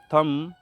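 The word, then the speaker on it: thumb: देंगे पढ़ने के टाइम चलिए देखते हैं कैसे साइलेंट करेंगे इसे पढ़ेंगे सीओ एम बी कॉम इसे पढ़ेंगे टी एच यू एम बी थम इसे पढ़ेंगे एन यू एम बी नम इसे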